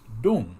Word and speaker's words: Zedong: For example, Mao Zedong, which used to be T-U-N-G, was now pronounced as Dung, like D-U-N-G, Mao Zedong.